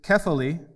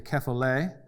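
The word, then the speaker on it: κεφαλή: And this word head in the Greek is kephali, with an accent on the eta, which in English letters would look like this. A lot of times people say kephale.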